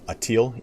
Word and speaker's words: Atil: And then ultimately sacked the capital of the Khazaria in, this says Itil, it's Atil, A-T-I-L.